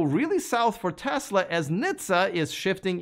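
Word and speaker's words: NHTSA: things may go really south for tesla as nitza is shifting its investigation into tesla's fsd into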